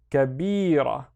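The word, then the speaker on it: كبيرة: The first one is ka, and then bi, and then ra. Kabira, which means big, but for something that is feminine.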